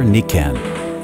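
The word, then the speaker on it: Nikken: Hello, my name is from Toronto, Canada, and I invite you to discover Nikan. Nikan, that's spelled N-I-K-K-E-N, has really become a dream come true business for me.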